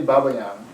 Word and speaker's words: Babayan: I'm Sergei gonna, Babian. what, I'm gonna. Sergei Babian. Yeah, he's Cleveland, he's doing Cleveland. CIM. What's his name? Sergio what? Sergei Babayan. How do you spell it?